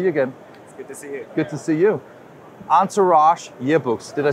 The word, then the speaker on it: Entourage: good to see you good to see you answer rash yearbooks did I say it right that's right